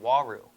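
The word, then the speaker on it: uaru: time I was keeping South American cichlid called waru u a r u if you guys are curious how to pronounce it it's pronounced woo um so I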